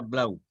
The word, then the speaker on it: Blau: Blau, se escribe Blau y se pronuncia Blau.